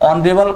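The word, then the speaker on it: honorable: ऑनरेबल का जो pronunciation है किससे हो रहा है? ओ से। वोवेल साउंड से।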